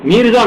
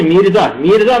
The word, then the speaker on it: میرزا: میرزا مہدی، یہ نہیں ہے مرزا نہیں ہے، میرزا مہدی کیا ہوا؟